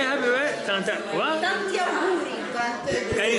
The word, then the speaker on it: Tanti auguri: Tanti auguri. Can you say that again? I'm filming. Tanti auguri. Tanta auguri.